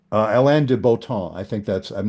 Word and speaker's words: Alain de Botton: Alain de Botton. I think I'm not sure I'm saying it right. If you say it with the French pronunciation, Alain de Botton, Okay.